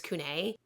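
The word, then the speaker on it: Couney: in a minute but everyone that has talked about him calls him Cooney so I may switch back and forth I'm sorry I'm trying I'm going to try to stick with one way of pronouncing it but I apologize if I say Cooney I mean the same thing as Kun so sorry deal with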